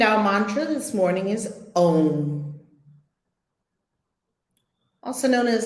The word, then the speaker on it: Om: And our mantra this morning is Om, also known as Aum. Pronounce it as desired for maximum effect.